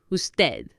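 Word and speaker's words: usted: you would be parad spelled us t d the D is hardly audible who dead so for you would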